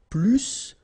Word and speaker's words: plus: in that case, remember, plus will be with the S. So pronounce it plus que.